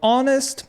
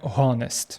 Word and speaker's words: honest: Залишається повторити, що буква H не читається на початку деяких слів, тому це слово читається як honest, а не honest.